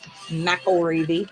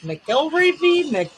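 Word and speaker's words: McElreavy: It's actually pronounced McElreevy. I will never forget that. But I was like, McElreevy, that guy, the Patrick.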